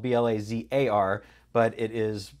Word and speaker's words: Blazar: to have a conversation with my guest, Blazar. welcome to the show. Thank you so much. It's great to be here. And so I pronounce everything right. It's your name is spelled B-L-A-Z-A-R, but it is pronounced Blazar.